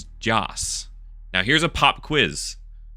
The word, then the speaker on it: Joss: But genuinely, that whole series could not exist without Joss. So everyone in the chat say, thank you, Joss. That's spelled J-O-S, not Josh. It's J-O-S.